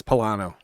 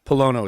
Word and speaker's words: Pollono: all right appreciate it most people from new england is pilano but polono is the correct pronunciation now luke said dude